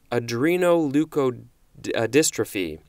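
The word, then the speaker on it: adrenoleukodystrophy: Adreno leukodystrophy let me try that one again Adreno leukodystrophy that is spelled ADR e n oh you K o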